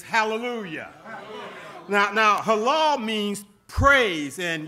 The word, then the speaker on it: hallelujah: The psalmist says in the Hebrew, Halal Yah, which pronounced in the English is hallelujah.